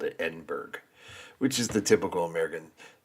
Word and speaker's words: Edinburgh: We pronounce it Berg. But Borough. So, Edinburgh.